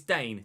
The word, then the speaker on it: Dane: No, not Daniel. It's Dane.